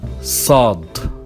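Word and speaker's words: ص: We have Sad, and we pronounce it Sah, like an S, but it's stronger. Consider it the sister of Sin, but it's a lot stronger.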